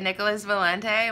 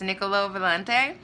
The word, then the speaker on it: Nicola Valente: the video I made I said Nicolas Valente when it's Nicola Valente so yeah just a